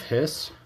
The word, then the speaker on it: His: down the bundle of hiss the electrical activity is there to the bundle hiss spelled his but pronounced hiss like a cat hissing then we go to